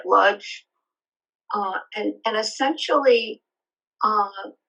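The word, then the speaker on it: Łódź: Poland called It's pronounced lud um it's actually spelled l o DG so it sounds like ludge uh and and essentially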